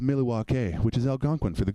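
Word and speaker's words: Milwaukee: laser beams attached to their heads it's actually pronounced Milly walk' which is Algonquin for the good lands we're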